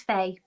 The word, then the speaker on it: Faye: your nurse my name's Faye okay so actually I was thinking that the pronunciation of your name is Phi that's why I thought